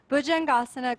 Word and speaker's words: Bhujangasana: Syllable by syllable, Bhujangasana, Gasana, Jangasana, Bhujangasana, Bhujangasana.